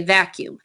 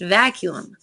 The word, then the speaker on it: vacuum: weird word we in the midwest just say vacuum however it is actually pronounced vacuum pine needles can ruin a vacuum so it's